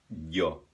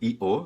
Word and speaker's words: yo: cons soa consoante ela é como se fosse uma I espremida no céu da boca por exemplo Yo primeira pessoa do singular Yo não é uma io não é io é e tampouco é